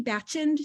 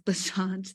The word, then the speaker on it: Bachand: I was like, is it Ali Bachand? She was like, no, it's Bachand.